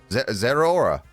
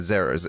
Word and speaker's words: Zeraora: Zeraora. Not Zera. It's Zora? Bleh. Zeraora. No. It's just however you want to pronounce it.